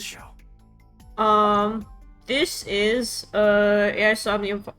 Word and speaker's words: Somnium: um this is uh is omnium it's pronounced is omnium files but stupid so I'm just going to say AUM files um you're